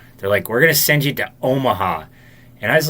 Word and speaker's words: Omaha: Omaha and she's like can we just say it like this though Omaha Omaha how is Omaha if you say it if you say Oma Oma then it sounds like it's tropical that sounds racist I